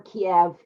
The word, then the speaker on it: Kyiv: It's pronounced Kyiv or Kiev in the United States.